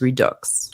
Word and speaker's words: Redux: as a French person I do pronounce the X in Redux so I was pronouncing it wrong it is Redux Robin thank you so